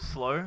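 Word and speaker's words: Slaux: actual performance as a collective uh we're called slow but pronounced s-l-a-u-x if you're wondering how to pronounce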